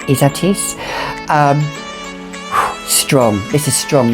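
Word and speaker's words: Ysatis: isatis um some people call it izatis or weissatis or but it's pronounced izatis um strong this is strong isn't it can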